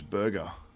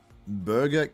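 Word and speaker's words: Burga: So this guy's name's Burger. Burger Keskin. It's spelled B-U-R-G-A.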